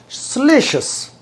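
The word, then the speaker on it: salacious: तो this word is स्लेशस, स्लेशस। तो ये एशियस से पीछे जो कोई वावल लेटर पड़ा होता है वो अक्सर शुआ साउंड में जाता है। That's why we pronounce it एज स्लेशस।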